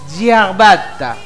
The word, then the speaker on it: ciabatta: Y me enseñó que es Ciabatta. Así se pronuncia esa palabra.